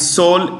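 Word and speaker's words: Seoul: South Korea's capital is soul s e o u l s e o u l Soul the E is silent Soul United States we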